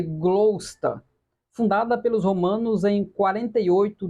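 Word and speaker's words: Gloucester: pequena cidade chamada glossester a pronúncia seria glosta fundada pelos Romanos em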